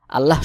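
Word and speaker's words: الله: হা পেশ হু জাহাবাল্লাহু আল্লাহ শব্দের আগের হরফে যদি জবর থাকে আল্লাহ শব্দকে মোটা করে উচ্চারণ করে পড়তে হয় অর্থাৎ পোর করে পড়তে হয় যেমন জাহাবাল্লাহু বা জের বি নুন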